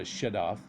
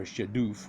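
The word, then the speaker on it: shaduf: This is called a shadaf, or shadoof, whichever way you want to pronounce it.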